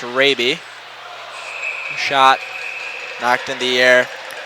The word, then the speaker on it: Raby: I believe that is pronounced Raby.